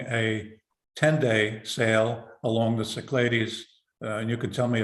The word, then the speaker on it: Cyclades: I'll be running a 10-day sale along the Cyclades and you could tell me if I'm pronouncing that correctly c-y-c-l-a-d-e yes that's how you